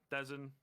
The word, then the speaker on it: Dezon: quick headshot, maybe onto Dezon, Podizon. How do you pronounce that? Dezon? Yeah, Dezon. Dezon, sure.